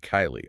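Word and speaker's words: Keighley: But then we hit the pure linguistic anarchy of Kylie, also in Yorkshire.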